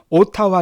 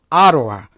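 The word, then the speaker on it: Ottawa: 캐나다 수도가 바로 오타만데 발음은 오타와 하지 마시고 아로와 아로와께 발음으로 말씀드렸었고요 항상 그 나라의 수도는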